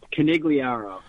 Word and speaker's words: Conigliaro: My last name is pronounced Conigliaro. Conigliaro.